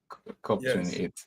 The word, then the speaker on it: COP28: C 28 going on yeah I think it's pronounced cop I'm not sure cop sorry C 28 cop 28 because C sounds like C okay uh C